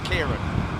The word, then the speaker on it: Ciarán: as Kieran he said that his name is pronounced Kieran oh the ACT guy that it was named after who works for the Met Office okay okay well whatever yeah yeah so Kieran thank you and uh I don't know if